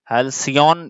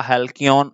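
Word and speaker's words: halcyon: और इसको याद रखिए, हेल्सियन या हेल्कियन ऐसे चीजों को आप प्रोनाउंस कर सकते हैं, हेल्सियन डेज, खुशगवार दिन, पीसफुल डेज।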